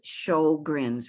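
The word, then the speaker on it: Sjögren's: of swedish background but for those of us who speak primarily english we would pronounce it as show grins we're kind of happy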